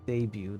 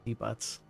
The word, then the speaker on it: debut: other day that the word debut is pronounced debut not debot it is an easy